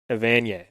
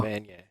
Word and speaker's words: Evanier: Evanier. All right, I wanted to just hear you say his name because I never knew how to pronounce it. Oh. Evanier.